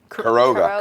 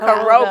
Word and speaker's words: Queiroga: Pronounce it for me. Queiroga. Queiroga.